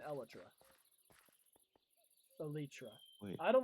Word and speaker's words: elytra: I mean like everyone everyone pronounces it wrong. Like entomologist is that the people who do insects? Yeah. Like entomologist would look at this and be like, "Oh, it's it's an elitra."